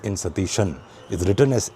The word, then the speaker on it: Satheesan: Vadesi Dhamodaran Satishan that is the correct pronunciation of the new chief minister of Kerala or Keralam as I should call it.